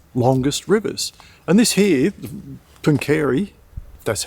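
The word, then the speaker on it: Pooncarie: And this here, Punkeri, that's how you pronounce it, was an absolute thriving um riverboat port.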